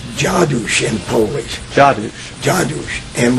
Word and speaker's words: Dziadus: a d s mhm well and it was pronounced jadou in poish Jad jadou and when I went